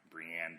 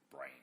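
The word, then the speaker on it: Brienne: is Brian I know in a show they pronounced her name Brianne but in the books when it's the audiobooks is read by Roy doctors he pronounces it brain so that's what I'm gonna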